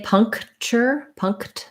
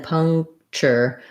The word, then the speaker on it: puncture: So I can say puncture with a K, but naturally most native speakers will just not release that K sound. So first syllable stress, vowel schwa sounds like pung. Okay, and then this is not an N, but it's an NG sound. So really thinking about like pung and then puncture.